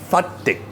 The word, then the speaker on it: Fatteh: Fatteh. Fatteh. Perfect Arab pronunciation.